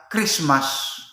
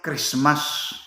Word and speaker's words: Christmas: Yung tawag na, sabi na Christmas, gi-slide lang nila yun. Hindi yun Christmas. Christ, ang tamang pagkabigkas, Christ mas.